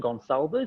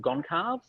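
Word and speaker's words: Gonçalves: and super happy also the right pronunciation of my surname and gone solvers instead of gone calves because i was which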